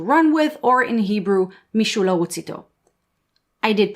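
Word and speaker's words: מישהו לרוץ איתו: English Someone to Run With, or in Hebrew Mishula Wutzito. I did pronounce it correctly, thank you very much.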